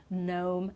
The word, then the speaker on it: gnome: and another one okay with the letter g so again we don't pronounce with these words and some others this is just you know a shorter list so gnome nat which is like